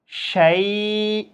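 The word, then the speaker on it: شيء: এটা দেখেন, শিন ইয়া জবর শাই, হামজা দুই জের ইন, শাই ইন। আপনি যখন এটা যখন উচ্চারণ করার সময় যখন ওয়াকফ করবেন শাই এভাবে উচ্চারণ করতে হবে।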